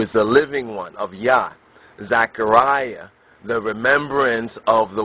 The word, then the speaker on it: Yah: Yahweh or the yod wah which more properly pronounced is yah not just Yahweh but yah yah yah and